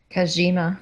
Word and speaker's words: Kojima: How do you pronounce it, Alice? Kojima.